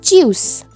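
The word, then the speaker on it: tschüss: we will use the informal way that is choose choose that two dot above o is called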